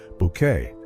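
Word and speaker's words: Bouquet: Hyacinth, who insisted her surname be pronounced Bucket, was the quintessential social climber.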